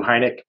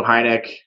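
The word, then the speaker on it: Heinecke: is my guy stu heineck you you spell his name a little bit uh different than you pronounce it h-e-i-n-c-k-e uh e-c-k-e um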